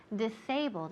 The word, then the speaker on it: disabled: disable okay great disabled disabled again the emphasis or the accent falls on the second syllable disabled disabled next we